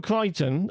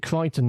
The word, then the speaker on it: Crichton: So, Michael Crichton, I found out you pronounced it Crichton, not Crichton, as I thought it was, but my dad corrected me.